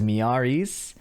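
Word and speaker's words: Miary Zo: Is it Mary Zo? It's uh So the game announcer says Miaris.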